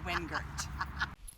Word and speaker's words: Wingert: by my DP an editor on the proper pronunciation of my own name twere I actually Wingert and the award for best friend and most